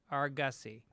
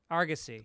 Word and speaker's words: Argosy: 11th and uh uh Chris Denman is writing pronounce Argus e argussy Argosy Argosy Casino Argosy Casino yeah please show up